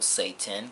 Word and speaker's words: Satin: As you can see, it's pronounced Satan as in S-A-Y-T-I-N. Satan.